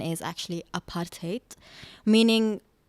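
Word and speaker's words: apartheid: uh regime called what people know today as aparttheide but the correct pronunciation is actually aparate meaning it's an Africans word which kind of means apartness being apart the state of being apart.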